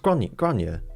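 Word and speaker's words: Gráinne: It's just Grania, but it's more like Grania. It's like Fiona Foyle, spelt with A's, but they kind of just lengthen the A's. Kind of like Swedish, in fact, but you know, instead of like Matt, it's Mott.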